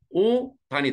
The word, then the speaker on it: 옷 안: 그러니까 옷 안이 되죠. 옷 단. 그래서 오단이 돼요. 오단.